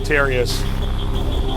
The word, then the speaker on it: Terius: over here representing foyu his name rhymes with nefarious for you there's a